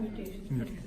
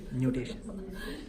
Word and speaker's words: nutation: Nutation, N-U-T-A. Not mutation. Nutation.